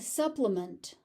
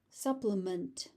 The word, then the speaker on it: supplement: As a noun, it's a supplement. Supplement. As a verb, it's supplement.